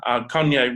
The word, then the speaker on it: Kanye: So ordinarily, years ago, or even months ago, I would have made a video with Kayne West, Kanye West. I've learned to say his name properly.